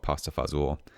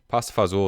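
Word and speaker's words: pasta fagioli: uh we are making pasta fagiol tonight or as us white kids from california call it pasta fazool i don't actually i'm not sure where that um pronunciation came from but pasta fazel is what my grandfather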